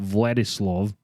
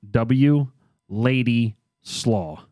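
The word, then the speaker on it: Władysław: i'm going to pronounce i think it's called vladislove but it's pronounced w lady slaw literally w l a d y a w lady slaw so anyway her father vladislav taught physics and math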